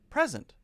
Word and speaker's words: present: Two-syllable noun, stress the first syllable. Two-syllable verb, stress the second syllable.